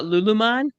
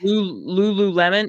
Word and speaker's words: Lululemon: of that brand uh lulan is that how it's said L Lululemon I'm sorry it's Lululemon my bad I don't